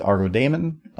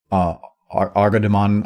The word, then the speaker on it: ArgoDaemon: It's the way I always see it is Argo Daemon. If you say demon or Argodemon, I don't care.